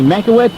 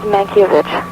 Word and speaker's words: Mankiewicz: The Russian pronunciation of it is Mankiewicz. Mankiewicz. The Americanized pronunciation of it would be Mankiewicz.